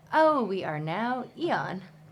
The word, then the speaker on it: Aeon: Yeah, and then we clicked the pronunciation button, and it went Eon, and we said, "Oh, we are now Eon."